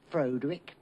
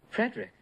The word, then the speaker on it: Frederick: Do you also say Frederick? No, Frederick.